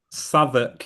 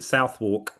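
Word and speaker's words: Southwark: Savoc is a good example. People pronounce it Southwalk.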